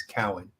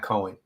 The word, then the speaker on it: Cowan: His name is Cowan, and the way you pronounce my last name is Cowan. It is not Cohen.